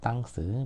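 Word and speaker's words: temps: 땅 스가 된 거죠 땅스 물론 발음은 이제 쓰를 안 하면 땅이죠 땅에 이제 자음 발음 안 하니까 땅으로 된 거죠 땅 그래서 이거를 영어식으로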